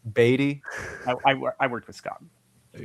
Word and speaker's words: Beatty: It's pronounced Beatty, by the way. Beatty.